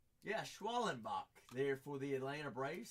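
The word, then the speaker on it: Schwellenbach: Schwallenbach there for the, am I pronouncing that correctly? Yeah, Schwallenbach there for the Atlanta Braves.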